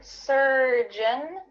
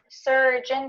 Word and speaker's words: surgeon: words to this but make sure that when you say the word surgeon surgeon the end of that word is beautifully pronounced and it's kind of swallowed surgeon surgeon or if you're not